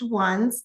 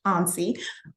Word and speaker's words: ONSE: neighborhood safety and engagement it is pronounced ones though if you look at it from a grammatical standpoint and as an English major I do agree it should be pronounced ony uh but we do refer to it as ones here most um persons in